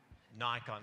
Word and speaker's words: Nikon: Nikon. We'll say Nikon again this year. It rhymes with icon for what you've done